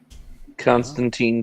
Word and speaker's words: Constantine: whatever is really interesting Constantine Constantine const team damn it it's time team you know it's it's TI Constantine Titans Constantine Titans Constantine y the biggest